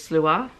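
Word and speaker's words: Sluagh: not necessarily 100% accurate, like slew, which in here is slua, probably is accurate, and then a different interpretation, one that I've heard, is slew.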